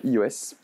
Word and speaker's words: /e/OS: du système d'exploitation mobile iOS. Ou EOS selon si vous le prononcez à la française ou à l'anglaise.